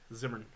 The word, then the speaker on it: Zimmern: Zimmern. Zimmern. Zimmern. Zimmern. Zimmern. 2 syllables.